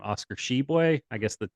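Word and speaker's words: Tshiebwe: the year's name Oscar sheboy I guess that you don't say the T you don't pronounce the T I mean thanks though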